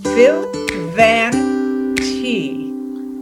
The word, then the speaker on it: Phil Van Tee: go ahead and start and his name is Phil Van T you hi pH line you pronounced it right at everything oh I'm so